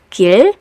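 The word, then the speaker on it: 길: As an initial consonant sound, it's usually sounded as the R sound, but as a final consonant, it's closer to the L sound.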